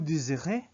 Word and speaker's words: désirez: Or we could say Z because it's just single S. Vous désirez.